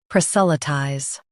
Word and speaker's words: proselytize: US says sa. UK says s. Focus on lie ties.